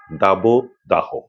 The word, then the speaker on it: দাবদাহ: অর্থাৎ মধ্যে ওকার আসে একইভাবে দাবো দাহ দাবোদাহ এমন আরো কিছু শব্দ আছে একই নিয়মের